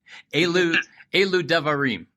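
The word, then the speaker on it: אלו דברים: rabbis, and it's the Elu Devarim. Am I saying that correct or near correct? That pronunciation was perfect. Well, then let me say it again, but a drum roll this time. Elu Devarim.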